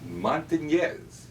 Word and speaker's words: Montanez: And today, we're very pleased and honored to have Miguel Montanez. Got to pronounce that correctly. As in- Those of you who are old enough will remember, in the Philadelphia area, Willie My Montanez.